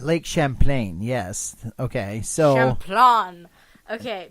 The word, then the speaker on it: Champlain: Lake Chaplin's. Is that not Nowhere Champlain? in Chaplin. there did I hear a food item. Champlain. Lake Champlain? Yes. Okay, so Champlain.